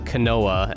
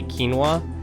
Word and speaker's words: quinoa: apparently very very common but like you know quinoa I used to call it canoa. That's what I I I used to call that quinoa canoa and I was like yeah canoa that the